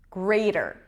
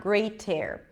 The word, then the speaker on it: greater: you pronounce the R you pronounce the T as a flap D okay you pronounce the